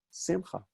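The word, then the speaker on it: שמחה: Simcha, and again, as a personal name, you'll often hear it pronounced on the penultimate syllable, the next to last syllable. Simcha, right?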